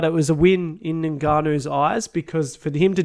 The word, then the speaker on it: Ngannou: I keep saying Ngannou. I hope that's right. You're saying it right.